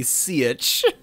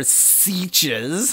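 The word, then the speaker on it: sietch: Joey asks, what's a sitch? That is the correct pronunciation, unlike the pronunciation they're using. They're sieches.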